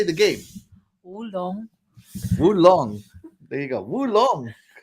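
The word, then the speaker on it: Wo Long: Wulong.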